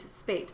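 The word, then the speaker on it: Spät: resling Spate Les hate Spate it rhymes with hate SP Le okay that's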